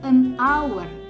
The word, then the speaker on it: hour: Tadi saya udah jelaskan hour, 1 jam, an hour. Ya, bukan a hour, bukan a hour. Apalagi kalau hour kan salah cara bacanya.